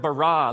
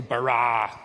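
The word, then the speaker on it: ברא: now the word for create is the word barah let me hear you say barah it's this forceful energetic word of making things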